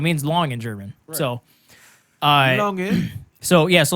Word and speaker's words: Lange: my last name, it's so how we say it over here is Lang, but that's not how it's technically pronounced. Right. Technically, it's pronounced Lange, but over here we say Lang. Lange. Lange. That's how you say it.